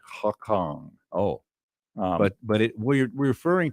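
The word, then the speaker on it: Lhakhang: that word okay the lacong is l h a k h a n g the h's are silent pretty much yeah well at least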